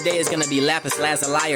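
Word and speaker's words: lapis lazuli: The crystal of the day is going to be lapis lazali or lazali, however you would like to pronounce it, but I call it lapis lazul.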